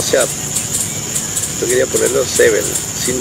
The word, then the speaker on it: S7N: una una banda que se llama Seven pero se escribe distinto que es una banda de México también puedan ver verlo en este canal lo pueden ver eh se escribe s7n Ah mira Seven una banda de México